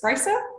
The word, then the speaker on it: Sprajcer: by and that's your q to pronounce your second name of your surname my second name is spricer okay that was easier than some other ones